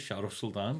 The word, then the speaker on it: Shahrukh Sultan: The right way, some people argue to say my name is Shahrukh Sultan because that's how my friends say it, and they give me a hard time. They say that you've dumbed your name down so everybody could hear it, and my retort is, well, let me butcher it for you, so it's easier to say.